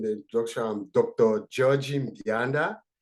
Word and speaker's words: Mbianda: Georgie Mbianda. So the Mbianda, most often people have difficulty. You can just have the M silent. It will be easy to pronounce.